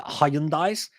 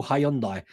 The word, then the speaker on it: Hyundai: to run a series of adverts for uh Hyundai's because we call them Hyundai Hyundai cars we call Hyundai so they run a series of ads on